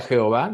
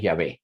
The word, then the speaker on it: Yahvéh: en el Antiguo Testamento no se pronuncia Jehová de ninguna manera de eso vamos a hablar un poco más adelante la pronunciación correcta es yah algunos le ponen acento otros no b chica B esos son detalles este cosméticos el el la palabra se pronuncia yah y malaquías Y si